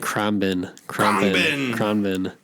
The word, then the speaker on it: Khruangbin: Oh, Krabin. Kronbin. I can't pronounce it. It's KHRUANGBIN. Like Kronbin.